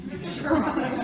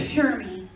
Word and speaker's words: Cherami: I was gonna say if nobody knows how to say it correctly, Cherami. I'm not going. Cherami. That's how I've heard it. Cherami.